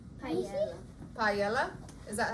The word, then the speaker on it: paella: Paella? Paella.